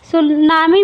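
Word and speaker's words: tsunami: सुनामी में जो आई जो है, ये सुनामी में ये यहाँ पे टी रहना चाहिए, ये टी साइलेंट है।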